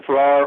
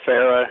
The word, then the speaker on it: Ferrar: your last name right i answered to ferrar or farah exactly how i would say it okay fair sorry about